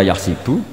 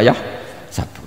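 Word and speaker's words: يحسب: Karena dalam qiraat sab'a ada yang baca yahsibu, qiraat kita baca yahsabu. Tapi guru-guru kita kalau ngajar fikih itu bacanya yahsibu. Tapi kalau baca Quran yahsabu. Ya kan Quran kita kan ayah sabu Allah yaqdiru alaihi ahad, bukan dibaca ayah sibu.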